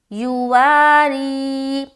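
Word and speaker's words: يواري: یا پیش یو، واو الف زبر وا، را یا زیر ری، یواری۔ اب اجرا کس طریقے سے کریں گے؟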